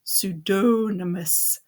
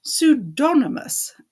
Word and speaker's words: pseudonymous: He asked, pronouncing it pseudonymous. It's pronounced pseudonymous, and it depends.